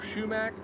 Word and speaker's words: sumac: not and in fact you also might hear people call it sumac or shoo Mac you know around my area here we have a tendency to just make up our own pronunciations for words so I grew up we always called it shoo Mac but if you look at the spelling it actually sounds like you should be more sumac so but either way